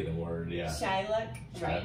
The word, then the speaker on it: Teaghlach: It does not spell like it sounds. Okay. It spells Teaghlach Ranch. Say it again. T-E-A. No, say the word, yeah. Teaghlach Ranch. Teaghlach Ranch.